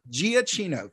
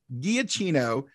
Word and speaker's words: Giacchino: Michael, I always mispronounce it. Giacchino.